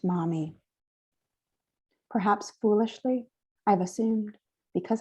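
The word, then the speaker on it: momme: Mami is a Japanese unit of weight, 3.75 grams, used to value loose or stringed pearls, pronounced mami.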